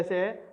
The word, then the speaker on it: सिंह: सिंह नहीं बोलते हैं, इसे सिंह बोलते हैं, तो इसलिए उच्चारण